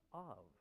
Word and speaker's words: of: apps is why because of is pronounced of like a V right you saw the